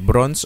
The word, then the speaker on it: bronze: ano yung tamang pronunciation bronze of brones bronze bronze bronze oo hindi siya o ano siya short o siya bronze hindi siya brow hindi siya brow bron hindi siya bron bron palala na ng